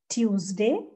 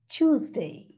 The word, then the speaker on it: Tuesday: wonderful job government right yes tuesday no it is tuesday tuesday tuesday actually it is t u z t u z choose so when you read